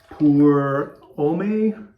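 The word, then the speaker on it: Pour Homme: just say poor homemade poor ome i think you don't pronounce the h for om um i'd say scent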